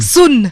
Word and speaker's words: Sun: He pronounces Sun. Sun.